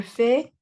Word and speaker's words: fais: Pero estas últimas letras no se van a pronunciar tal cual. La pronunciación de estas tres palabras es exactamente la misma. Je fais, tu fais, il fait, elle fait, on fait.